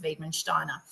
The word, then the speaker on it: Wiedemann-Steiner: And so you'll hear me say Wiedemann-Steiner only because that pronunciation is burnt into my brain from her geneticist because it's a German it's from like a German geneticist found it. So that's where it's, you know, they pronounce it as Wiedemann-Steiner.